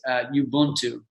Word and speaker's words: Ubuntu: So there's a phrase in African culture from certain tribes in Africa, and I don't know exactly how to pronounce it. I think it's Ubuntu, Ubuntu, Ubuntu, and the idea, that phrase means I am who I am because of who we all are together.